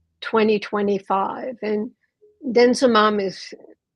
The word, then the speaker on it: denosumab: And denosumab is, spelled a different way than it's pronounced, actually.